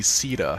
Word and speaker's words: Caeda: a substantial update and this is gonna be Sita yes that's right we're finally going to be pronouncing her name properly Sita is an absolutely